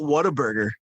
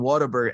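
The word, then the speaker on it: Whataburger: And what's the craze on Waterburg? And I don't even know if I'm saying it right. You're saying it right. Waterburg. Some people say like water burger.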